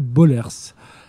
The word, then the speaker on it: Bollaers: et son interprète Bollers. Je ne sais pas si on prononce comme ça. Non, c'est Bollers.